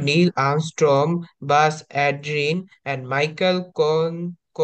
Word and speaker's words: মাইকেল: জোরে পড়বো নীল এ আর্মস্ট্রং বাজ আলরিন এন্ড মিডেল কলিংস আচ্ছা এটা হচ্ছে মাইকেল উচ্চারণটা হবে মাইকেল Collins মাইকেল Collins launch দা